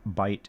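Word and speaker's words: Bight: Bishop and for information bite is spelled b i g ht.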